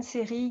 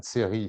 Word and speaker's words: Scerri: série guide de voyage intérieur je change d'ailleurs lorsque